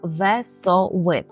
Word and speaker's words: wesoły: мої студенти роблять помилку Тому розіб'ємо це слово на склади ве со ви ще раз ве со ви так і тепер разом весови це означає веселий і